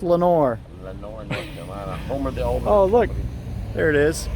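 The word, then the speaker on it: Lenoir: in the middle and how do you spell Lenore oh I are well I are but it's pronounced Lenore oh look there it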